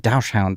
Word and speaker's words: dachshund: I said dash hound. I guess I said that wrong. Is that I was I wasn't sure if that was You're saying it right. You can say it both ways.